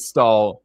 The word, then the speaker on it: Staal: But uh stall or not stall rhymes with stall, Taylor Hall with a shot there.